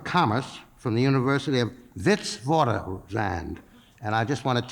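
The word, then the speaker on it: Witwatersrand: from the University of Vitz vand and I just want to tell you even though it's spelled with a W it's pronounced with a V and I was very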